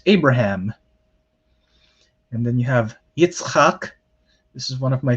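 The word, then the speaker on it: יצחק: and then you have yitzhak this is one of my favorite hebrew names to pronounce itzhak we don't ever combine those consonantal combinations in english because it sounds weird to us which is why in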